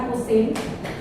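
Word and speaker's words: arcsin: jadi kadang-kadang arusin eh dibacanya sebenarnya arus Sin ya bukan Sin p-1 ya tapi arus Sin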